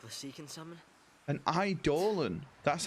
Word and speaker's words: Eidolon: An Eidolon.